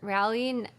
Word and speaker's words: Raleigh: Tamara says, QuiltCon is in Raleigh. Is that how you pronounce that? Yeah, Raleigh.